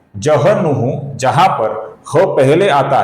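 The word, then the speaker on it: जह्नुः: तो हमें ह का पहले उच्चारण करना है। न का उच्चारण बाद में करना है।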